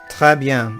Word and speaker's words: très bien: Très bien. It's pronounced très bien.